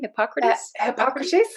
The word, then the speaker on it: Hippocrates: even uh you know hypocrite how do you pronounce his name hippocrates yes that's yes they i know we're both